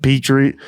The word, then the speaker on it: Poitras: Well, I'm pretty sure in practice they're trying Poitras already at second line. Yeah, I don't even know how to say his last name. He's like Petrie. It's like a Petri dish.